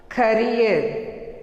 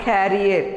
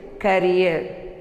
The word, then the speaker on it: career: Next, C-A-R-E-E-R, career, not carrier, it is career. R is silent here, career.